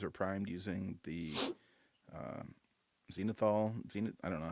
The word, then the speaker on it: zenithal: primed using the uh, zenithal. I don't know how to say it, Eric. I think you Zenithal nailed it. method. Zenithal. It's because it's the zenith.